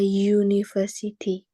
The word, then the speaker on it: university: ini harusnya pakai e Kenapa karena waktu kamu mengucapkan University dalam bahasa Inggris gimana cara mengucap pengucapannya eh University ya dibacanya kan lebih soundnya itu lebih vokal pakai huruf y University ya kan nah jadi karena bunyinya atau soundnya lebih vokal lebih konsonan Sorry lebih konsonan maka di sini kita